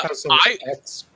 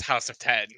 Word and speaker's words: House of X: Now, is it pronounced House of X or House of 10? I think it's House of X based on House of M. I was told it was House of 10 and Power of 10.